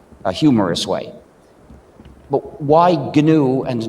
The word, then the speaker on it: GNU: name of our system please pronounce it with a hard g pronounce it gnu if you call it